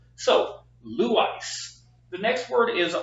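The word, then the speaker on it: λύεις: time being know that the accent is on the first syllable which is Lou and then we have the second syllable which is ice which means that it is not blue ice it is Lou ice or I'm here to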